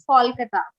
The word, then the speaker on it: Kolkata: they'll explain you that so Calcutta is the name given by the British okay but uh the name has changed and you know updated now so it's Paul Kita okay it's got a